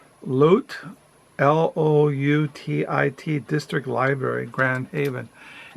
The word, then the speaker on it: Loutit: Let me see how I pronounce it. Let me see. It's called Loutit, L-O-U-T-I-T District Library, Grand Haven.